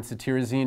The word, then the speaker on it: cetirizine: So cetirizine, Zyrtec, this T-I-R in cetirizine is pronounced tear, so you can think of tearing from allergy eyes.